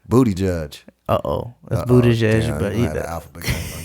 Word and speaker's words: Buttigieg: I could barely pronounce it. Yeah. But how you say it? Booty Judge. Booty Judge.